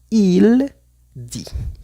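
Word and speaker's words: dit: Y en el tercer ejemplo sería il di, porque sabemos que la t al final no se pronuncia.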